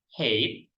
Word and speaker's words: height: Next vocabulary is hate. For pronunciation is hate.